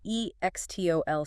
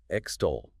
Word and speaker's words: extol: E-X-T-O-L. Stress. Extol. Stress on the second syllable, stole. 2 syllables.